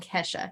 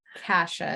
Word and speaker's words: Kasha: Yes, not Kesha. Oh. Kasha is what I'm going to pronounce it as to create a difference.